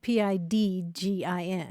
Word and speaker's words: pidgin: And that's spelled Pidgin. That's right, Pigeon. Not like the bird.